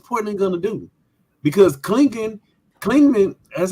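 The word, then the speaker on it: Clingan: Because Klingman, that's how you say his name, he actually kind of showed you some DeAndre Ayton tendencies.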